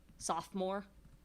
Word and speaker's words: sophomore: Sophomore has a strong syllable to begin with. It's a feminine rhyme. Like a feminine word, and that the second to last syllable is the strong one. Sophomore.